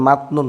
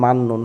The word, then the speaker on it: 맞는: এখানে একটা জিনিস, সেটা হচ্ছে এই যে উচ্চারণটা কিন্তু ভাই মাতনুন না, উচ্চারণ মান্নুন। হ্যাঁ, ত জাতীয় কোনো কিছুর পরে যদি ন থাকে তাহলে তটা ন হয়ে যায়, তাহলে এখানে উচ্চারণটা মাতনুন না, উচ্চারণ মান্নুন, মন থাকে যেন।